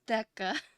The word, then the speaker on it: Theca: white because my lighting it's pronounced deca okay can we see